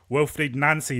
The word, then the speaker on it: Wilfried Nancy: Josh Wilfried Nancy, that that's the official pronunciation coming out of Celtic from yesterday.